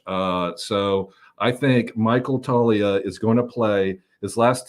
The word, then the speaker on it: Toglia: guy who is Michael Talia and it's spelled t o g l i a the g is silent my friends and I know this